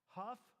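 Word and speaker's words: Hough: Huff.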